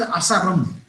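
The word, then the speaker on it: Asarum: It is pronounced as Asaram, and it is found in South India, especially in the Western Ghats of Tamil Nadu and Kerala.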